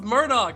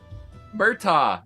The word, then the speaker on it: Murtaugh: I thought it was Murdoch, not Murtaugh. Murtaugh. I spelled it. That's literally how it's spelled, dude.